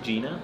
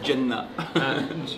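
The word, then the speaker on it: Jena: I think Gina. Yeah, but you say it like it's a facility. You say it in like almost Arabic. You say Jannah. Gina.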